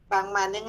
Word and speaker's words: Van Manen: Van Manen habla de los métodos fenomenológicos hermenéuticos. ¿Cómo cómo se escribe, doctora?